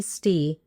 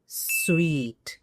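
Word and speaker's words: suite: So that best room S वी all know it इज स्वीट and certainly not सूट।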